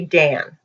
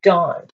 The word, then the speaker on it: Dan: And we would say Dan. When you read the Bible, usually people will say Dan. It's Don.